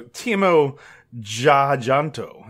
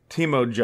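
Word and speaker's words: Timo Tjahjanto: So, Timo Jajanto is how I would pronounce it. Yeah, name. Okay. Timo Jajanto.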